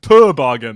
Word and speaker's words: toboggan: saying the same thing i'm just putting the emphasis on the first part it's to to to toboggan then who taught you